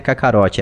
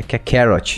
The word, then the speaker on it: Kakarot: quero corrigir sua pronúncia que não é kakarot é que carrot não kakarot que é BR rapaz